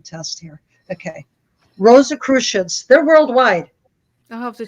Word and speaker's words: Rosicrucians: check them out they're they how do you pronounce it again rosa christians r o s i c r u c i a n like i'm in a spelling test here okay rosa christians they're worldwide i'll have to check it out